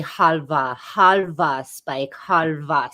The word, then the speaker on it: halva: Halva, Spike. Halva. Say it. Harva, harva."